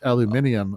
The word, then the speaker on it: aluminium: how it is pronounced aluminium over Oh, yeah. They give it a they give it a whole other syllable, right?